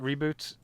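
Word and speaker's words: Ribut: malaysia the melee word reboot means storm in english cool yeah so uh reboot uh is they pronounce it reboot in um all the english things i've heard where they've dubbed it so that's why i'm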